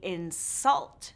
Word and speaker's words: insult: We inSULT someone with an INsult. Do you see a pattern here? Yes – these two-syllable verbs often stress the second syllable; the nouns often stress the first syllable.